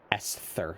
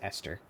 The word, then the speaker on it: Esther: It's got an H in it, but I don't I don't I feel like you don't pronounce it like Esther. I think it's Esther. Yeah.